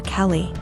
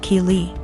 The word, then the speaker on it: Keeley: was calling my daughter Kelly my daughter's name is Keeley pronounced Keeley so after school was